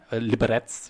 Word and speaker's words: Liberec: Liberec wird es ausgesprochen.